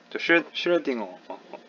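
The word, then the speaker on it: Schrödinger: 5에다가 점 두 개가 붙으면 독일어에서 외로 발음한대요. 예.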